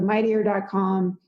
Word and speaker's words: Mighteor: Like a Mighty Meteor.